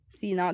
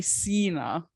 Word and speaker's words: Sina: Sometimes American people, I'm not going to blame the Americans, but sometimes foreign people say Sina, which like is a bit pressure on the E.